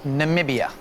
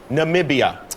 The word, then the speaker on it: Namibia: Namibia. Namibia. Yes. Okay. Everyone says it wrong all the time.